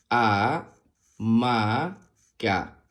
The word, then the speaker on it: hamaca: imagen muestra una hamaca la palabra hamaca se escribe con h a que suena a m a que suena ma y C A que suena k a ma ca amaca muy bien Ahora vamos